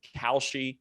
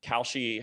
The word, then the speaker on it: Kalshi: The second legal onshore book is called Kalshi. It's spelled like the Whole Foods cereal.